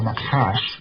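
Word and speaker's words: נחש: The reason that they do that, and I'll give the Bible translators this one, is the word nakash, or nakash, as it's pronounced properly, is the word that is used for snake or serpent.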